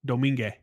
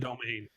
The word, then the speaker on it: Domingue: change that name because really it's Domingue. Yeah. In LA, it's out here in LA. It's not Domain.